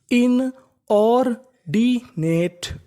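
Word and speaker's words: inordinate: अगर आपको इंग्लिश की किसी भी मीनिंग के आखिरी में इ लिखा मिले तो हम लोग इ का उच्चारण नहीं करते।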